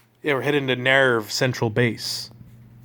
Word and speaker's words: NERV: don't like it's not nares that's not a thing Nair but is nothing it's nerve pronounce it nerve please and also there was